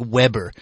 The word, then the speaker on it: Weber: It looks like Weber, but it's actually pronounced Weber, named Damian Lillard.